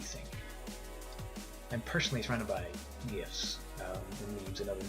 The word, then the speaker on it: GIF: blogs um alongside Tumblr will I insist is pronounced GIF um even though the G stands for graphical but is something I'll never give into it's GIF all these examples are relevant in modern day